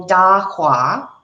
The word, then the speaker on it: Dahua: The other 2 companies are Hikvision, just H-I-K, and then Dahua, spelled like it sounds, Dahua.